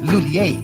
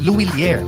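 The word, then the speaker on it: Lhuillier: English speakers commonly pronounce it as Lulier. But for Filipinos, mas madaling ibigkas ang Luilier. Pwede rin gamitin ang initials na ML, which stands for M. Lulier. Pero kahit anong pronunciation pa man yan, lahat pwede.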